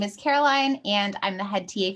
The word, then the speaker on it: Caroline: everyone my name is caroline and i'm the head ta for both the cognition and perception courses this semester i use she her pronouns and you can pronounce my name like care o line just to give you